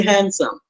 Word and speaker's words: handsome: D is gone, it's a consonant. Now you pronounce only handsome.